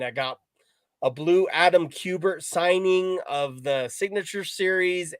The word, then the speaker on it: Kubert: I got to give you props, Josh, because pretty much everybody on YouTube is like, Adam Kubert. Kubert. I'm like, no, it's Kubert.